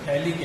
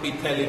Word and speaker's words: phthalic: So common name, it is written phthalic acid. Which acid? Phthalic acid. Here P is silent. So you can write here phthalic acid, not pithalic acid.